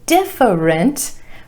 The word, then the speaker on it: different: number three different different I know it looks like it should be different but only two syllables here emphasis on the first syllable and that a vowel